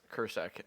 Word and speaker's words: Krsek: I have a friend whose last name is Kursek and it is spelled Krsek, which is exactly how many vowels Plzeň has.